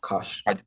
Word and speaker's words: cache: So, that word is actually pronounced cash. C A C H E, right? Okay. So, yes, sir. Yeah. So, that word is pronounced cash.